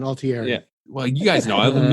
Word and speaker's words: Altieri: It was directed by Kevin Altieri and Altieri. Yeah, thank you. You got to say it like you're Italian, Altieri.